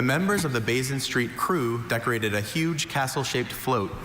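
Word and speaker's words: krewe: Your word is crew.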